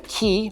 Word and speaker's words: 気: The misunderstood meaning of ki, or chi if you want to use the Chinese pronunciation, is magical superpower.